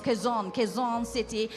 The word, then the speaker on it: Quezon City: Did I pronounce that properly? Yes, Quezon City.